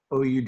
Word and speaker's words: oud: essentially in something called the ood oud it rhymes with food and this is a